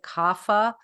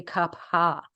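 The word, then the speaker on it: Kapha: Kapa which people often you'll hear them pronounce it kafa it's actually Kapa with an aspirated H Capa is water and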